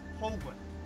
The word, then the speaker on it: Holguin: We do have a special guest, which I cannot pronounce his last name. I've tried. Heather? You haven't tried hard enough. Phoenix Holguin.